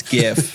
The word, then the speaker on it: GIF: bad that was really bad for the record it's spelled gif it's gif it is anyone that says different is wrong